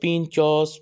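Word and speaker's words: pintxos: Pronounced Pinchos, Pintos are little delicious treats that have grown to be a treasured Basque custom.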